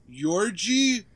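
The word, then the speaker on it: György: Yorgi Doza. Yorgi. Yeah. How do you spell that?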